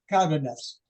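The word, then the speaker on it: Cárdenas: Well, it's actually Cardenas, Alnulfo Cardenas. Oh, but the white Anglo-Saxon Protestant group couldn't pronounce that, so they just say Arnie Cardenas, you know.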